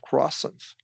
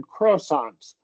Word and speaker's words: croissant: Well, amore you you didn't mispronounce it necessarily, but it sounded like you said croissants. You emphasized the first syllable and we want to stress the second song.